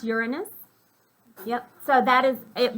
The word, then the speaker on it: Uranus: know but it's it but it is uranus let's call it uranus let's let's use correct pronunciation all right so um